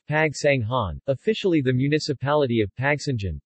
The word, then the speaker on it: Pagsanjan: Pagsanjan, pronounced Pagsanghan, officially the municipality of Pagsanjan, Tagalog, Bayan ng Pagsanjan, is a third-class municipality in the province of Laguna, Philippines.